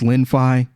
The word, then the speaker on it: Lenfi: past as well from here on out it's linfai and we're going to be covering this and